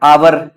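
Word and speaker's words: hour: sound हो जाता है जैसे अगर हम बात करें एयर यहां पे एच साइलेंट होता है आवर एच साइलेंट होता है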